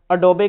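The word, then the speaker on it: Adobe: देखो जैसे ये है अडोबे, तो इसको ओरिजिनल जो इसकी प्रोनाउंसिएशन होती है वो होती है अडोबी, तो अडोबी बोलते हैं, लेकिन इंडिया में इसको अडोब बोलते हैं, अडोब नहीं होता, ये अडोबी होता है।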